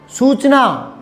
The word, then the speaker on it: सूचना: सूचना, सूचना, आपके इस क्षेत्र में आप च को स बोलते हो, थोड़ा उच्चारण में आपके गड़बड़ है। सूचना, स को च मत लिखना, सूचना।